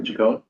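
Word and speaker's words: Ciccone: Do you know how he pronounces it? Chicone.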